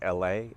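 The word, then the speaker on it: Allée: Right now we're walking down, I'm trying to pronounce it right, Oak LA, A-L-L-E-E. Accent aigu on the French there.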